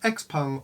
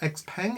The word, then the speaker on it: XPeng: we're going to be talking about x-pung or x-pen if you pronounce it more it's all western-like but this is a